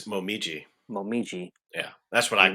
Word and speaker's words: Momiji: Momoji, I don't know, but I think it's Momiji.